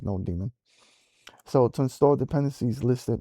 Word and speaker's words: nodemon: I don't know if you pronounce it node demon or nodemon. I think it's node demon.